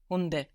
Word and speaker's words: Hunde: Hunde. Hunde. Good, because now the D is starting a syllable.